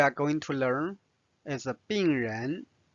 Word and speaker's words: 病人: 病人 Notice second tone for 人。 Now let's study this conversation. 这个医生很好。这个医生很好。是的，他的病人很多。